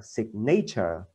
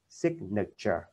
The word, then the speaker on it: signature: trên đầu này thì nó không đọc là signature mà đọc là signature, tức là này là chữ ơ, đây là chữ ơ, i ơ ơ, ok, signature, ok, signature, phiên âm của nó.